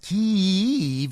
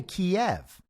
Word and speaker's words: Kyiv: If you don't know that it's pronounced Kyiv, you can't have opinions about Ukraine. They can tell you're on the other side because you say Kiev.